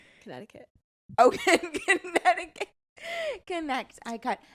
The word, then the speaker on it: Connecticut: And connect eye cut. Connecticut.